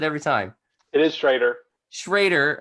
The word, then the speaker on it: Schroeder: Schrader, okay, even though there's an O there, Schrader, and Chris Macksey with Prefix Accounting.